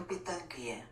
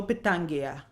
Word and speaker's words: Pitanguy: Ivo Pitangui. Ivo Pitangui.